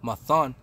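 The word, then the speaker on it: מַתָּן: And the Hebrew word for gift is a ma, a tha, and a na. And it's pronounced mathan.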